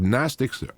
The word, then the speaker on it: Gnostic: of aspects you have gnostics are knowing a agnostic that that end the g is silent when you say Gnostic but when you put the a there it's agnostic not knowing so AG an an